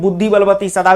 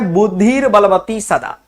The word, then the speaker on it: बुद्धिर्बलवती सदा: बोलचाल में इसको फटाफट में बुद्धि बलवती सदा भी बोल दिया जाता है। लेकिन सही इसका उच्चारण है बुद्धिर बलवती सदा।